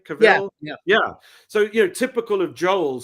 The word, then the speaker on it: Cavill: Is that how you pronounce his name? Cavill.